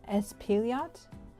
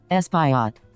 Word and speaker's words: Espaillat: Espaillat? Espaillat? Espaillat? Oh gosh, help me God. How do you say this? Espaillat.